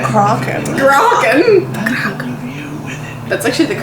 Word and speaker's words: Kraken: The Kraken.